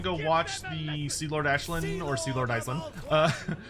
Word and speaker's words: Aislinn: Um, and GW just doesn't care because it's an Irish name and they're British.